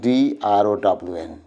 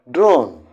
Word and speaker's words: drown: see here this is p o r and d r o w n these two words and here is boy you